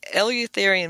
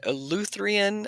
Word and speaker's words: Eleutherian: Yeah, and I'm glad you say Eleutherinian Mills. I've always said Eleutherian. I never knew how to pronounce it.